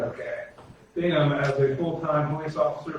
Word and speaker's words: Bingham: Resolution 2021-25, resolution affirming the appointment of Jeff, is it Bingham? Is that how I say his name, Yes. Chief? Correct. Okay. Bingham as a full-time police officer for the village of Minerva Park, Ohio.